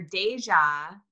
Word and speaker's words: Dayjah: And so when I hear Deja, it's like deja vu. Deja vu. Right?